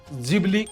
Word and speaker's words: Ghibli: Japan में इस घिबली का उच्चारण जिबली किया जाता है। जिबली जिसे भारत में घिवली के नाम से उच्चारित किया जाता है।